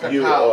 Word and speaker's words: cacao: It's called cacao.